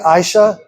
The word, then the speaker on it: Aisha: Aisha. Like the letter I. And then sha.